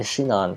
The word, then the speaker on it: Sinon: Because, fun fact, in Japanese, there isn't really a singular S sound. The closest you get for, like, Shinon is basically, or Sinon is basically Shinon, so that's how they say it.